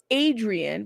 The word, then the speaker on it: Adria: okay thank you so it's pronounced Adrian without the N so Adria Adrian Blair